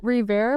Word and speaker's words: Revare: And for me, it's also kind of a pun on words because Indians sometimes can't pronounce the W's and the V's correctly. And they say rewear as Revare.